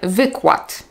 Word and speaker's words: wykład: Nie powiem więc wykład, powiem wykład. Nie powiem wąwóz, powiem wąwóz.